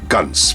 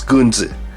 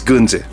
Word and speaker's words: Gunze: Well, most people overseas, you know, call the brand Guns, but in Japanese there's no S sound. It should pronounce as Gunze.